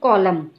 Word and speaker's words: Colum: Colum, pronounced Colum, ran down to meet her,